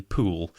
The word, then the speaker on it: Pole: my book um and although we often say Margaret pole it was actually pool yes po Yes again